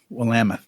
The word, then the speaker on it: Willamette: Willamette. What? Willamette. Okay. It says Willamette. I know what it says, but it's not pronounced that way.